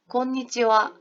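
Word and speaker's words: こんにちは: 글씨는 분명히 하인데 선생님 발음은 지금 어떻게 했다? 곤니찌와 와라고 발음을 했습니다. 자, 여러분 여기 하에 동그라미 치시고요. 하에 동그라미 치시고 인사말에서 끝에 존재하는 하는요. 와로 발음을 해요. 다시 한번 말씀드릴게요. 인사말에서 존재하는 이 끝에 있는 하는 와로 발음을 합니다.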